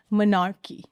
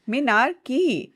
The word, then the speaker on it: menarche: And know your normal discuss करने से पहले एक word जान लेते हैं, monarchy. What? कौन सी की? Monarchy. Menarchy. Like, say it like menarchy.